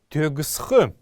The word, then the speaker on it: тёгсх: Есть еще одно слово, это слово тёгсх. Тёгсх. Тёгсх. В нем две неясные гласные, одна после буквы Г, тёгсх, так нужно произносить это слово.